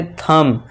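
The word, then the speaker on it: thumb: अब नेक्स्ट देखिए एम के बाद फिर से बी है तो यहां इसे साइलेंट कर देंगे और इसे क्या पढ़ेंगे? थंब।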